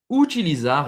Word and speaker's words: utilizar: Utilizar est utiliser. D'accord ? Attention à la prononciation du U. On l'a déjà vu plusieurs fois sur cette chaîne, c'est le ou.